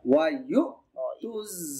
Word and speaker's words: ويؤتوا: ওয়ায়ুকিমুস সালাতা ويؤتوا الزكاة ইয়াগে এই যে হামজাকে ধরছে এই জন্য এটা একটু ধাক্কা হবে। ওয়ায়ুতু যাকাতা حنفاء ويقيموا الصلاة ويؤتوا الزكاة وذلك জালটা কিভাবে পড়তে হবে?